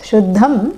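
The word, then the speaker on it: शुद्धं: Yeah, no need to pronounce the mers, Shuddham and Ashuddham, because it is followed by certain consonants and it takes on the nasal of that consonant.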